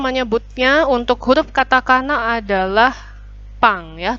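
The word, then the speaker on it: パン: untuk huruf Katakana adalah pangya tulisannya Pan Tapi bacanya punk silakan didengarkan yang ini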